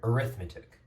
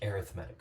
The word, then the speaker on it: arithmetic: we pronounce this word arithmetic of course like adding and subtracting very basic as an adjective like it's used here but it is pronounced arithmetic so this is an